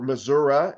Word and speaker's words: Missouri: for us in uh Missouri right now or Missoura if that's uh your preferred pronunciation um we have people